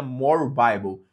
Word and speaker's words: More Bible: Se digita More Bibli, mas se pronuncia More Bible.